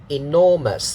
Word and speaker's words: enormous: So pitch back pattern first. It will be the second syllable. You see it here. Okay, in front of it is one syllable. It's the vowel sound. Okay, no full stop needed because it's the beginning. And then one syllable and then stress mark, second syllable, and then dot, the third syllable, so 3 syllables, bung bung bung, and then the second one carrying the stress with the stress mark.